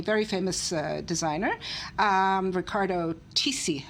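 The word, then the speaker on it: Riccardo Tisci: famous uh designer um Ricardo tii I think is the way you pronounce it and it's a fur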